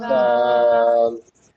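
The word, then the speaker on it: ذال: জাল। জাল। জাল। হ্যাঁ, জালকে উচ্চারণ করার সময় সা যেভাবে নরম করে বলেছি, ঠিক একইভাবে জালকেও নরম করে পড়তে হবে। সা যেমন নরম হবে, জাল এটাও নরম হবে।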